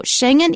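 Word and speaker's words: Schengen: They just use the German pronunciation. They speak a dialect of German in the country where that particular village is found. So Shenhen is a village in Luxembourg.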